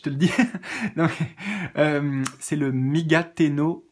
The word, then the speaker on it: Migate: C'est comme ça se prononce, M-I-G-A-T-E, Migate, plus loin no, N-O, plus loin Gokui, G-O-K-U-I.